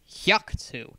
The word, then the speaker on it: Haku: bit annoyed at this Haku it's pronounced with a sharp hu sound she Shrugged sorry he